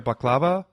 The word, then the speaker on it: baklava: How do you pronounce it there? Baklava.